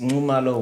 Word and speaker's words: Nxumalo: She said to me, to say it right, if you ever said Nxa, just say Nxu. Correct. Right. Yeah, I'm sitting with me, Prudence Nxumalo.